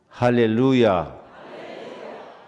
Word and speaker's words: 할렐루야: 할렐루야. 해봐요. 시작. 루자에가 액센트가 있어. 할렐루야가.